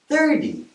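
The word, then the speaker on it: thirty: on the other side for these numbers the stress is on the first syllable and I'll represent that with a big black dot okay here's my big dot 30 one more thing I'm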